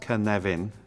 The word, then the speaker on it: Cynefin: this is the Canadian framework pronounced kan leven for those of you who don't speak Welsh